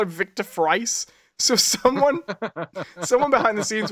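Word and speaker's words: Fries: Gordon and Bullock about whether it's pronounced freeze or frice. and Bullock's like, no, I'm good with names. And then eventually they ask his wife, and she's like, it's Frice.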